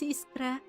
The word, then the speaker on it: Iskra: My daughter's name was Iskra. And before you ask, yes, Iskra, as in Iskra Manufacturing Plant. Iskra? I'm sorry, the Bulgarian pronunciation is Iskra.